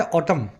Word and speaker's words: autumn: और पतझड़ के लिए 2 वर्ड्स हैं, जो वर्ड्स फॉर्मल है वो है ऑटम। स्पेलिंग देख लेना, AUTUMN, लास्ट में M आता है, N आता है।